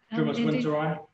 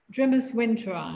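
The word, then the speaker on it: Drimys winteri: How do you pronounce it? Grimace Winteri. Grimace Winteri.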